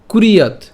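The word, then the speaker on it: কুর্যাৎ: এরপর কুরিয়াত, কুরিয়াত কেন? এই যে এই যে রেফটা আছে, রেফটা আমরা রসুকারের সাথে উচ্চারণ করব, তাহলে কুর। এবং এই যে এখানে অন্তস্থ আছে, এর উচ্চারণটা অন্ত্যেস্তীয়র মতো উচ্চারণ হবে বা ইয়র মতো উচ্চারণ হবে, তাহলে ইয়াদ, কুর ইয়াদ, ঠিক আছে, কুর ইয়াদ, কুর ইয়াদ।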